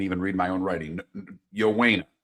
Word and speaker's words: Ioane: Yowena is how it's pronounced. Why, of course. I mean, his last name's spelled Ioane.